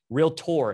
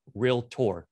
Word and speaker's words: realtor: says she is a realtor real tour it is not three syllables it's two real tour right so awesome shanika